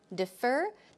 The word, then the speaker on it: defer: or a later time defer the stress goes on the second syllable defer defer defer I'd like to defer